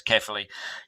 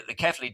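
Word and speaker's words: Cefaly: The Kefali machine, however you care to pronounce it, I say it's Kefali. You might call it Kefali, or I'm sure there's loads of other things. It's Belgian. There's probably a Belgian pronunciation for it as well.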